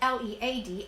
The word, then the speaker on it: led: The verb lead, L-E-D, is pronounced the same way as a pencil lead, but it is the